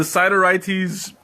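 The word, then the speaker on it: Sideritis: the plant was uh siddiritis i forgot how you pronounced it ciderites or side no cytorites yeah it's the cytorites the genus also known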